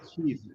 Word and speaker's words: Keith: culture, especially South Americans, they cannot say my name properly. They don't know how to say Keith. They go.